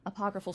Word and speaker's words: apocryphal: And there are all kinds of, apocryphal, that's how you say it, apocryphal stories about Varina.